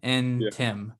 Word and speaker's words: Ntim: see him on linkedin it's like saying william and tim and tim yeah that's an interesting